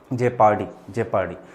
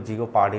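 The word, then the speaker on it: jeopardy: अच्छा, जब मैं आपके प्रोनाउंसिएशन की बात करता हूँ, जैसे इसको जियोपार्डी नहीं पढ़ते, दैट इज जेपर्डी, तो आप उस पर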